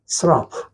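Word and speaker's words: שָׂרָף: 그 환상 속에 스랍이라고 하는 천사가 나오는데 여러분들 스랍은 히브리 말로 스랍 똑같아요. 한국말이나 예 히브리 말이나 발음이 거의 비슷해. 스라프 스라프를 우리 한국말로 스랍이라고 쓴 거죠.이 이스라프라고 하는 거는 불꽃이라는 뜻입니다.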